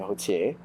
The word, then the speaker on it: Routhier: Originally, I'm from I'm from Quebec, some of you may know, with my last name being Hotier. That's how you pronounce it.